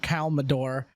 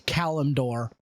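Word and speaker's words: Kalimdor: I know it's not Calador, it's Calumdor.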